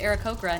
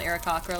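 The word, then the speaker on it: Aarakocra: D and D movie apparently it's pronounced era kokra not era cakra like we all thought um God he's so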